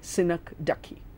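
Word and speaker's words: synecdoche: it means ducky ducky the e is pronounced there though sometimes it's not pronounced when you were looking at hyperbole you probably saw that hyperbole or hyperbole but in synagogue we have no choice we have to say sinak dukhi what is sinataki a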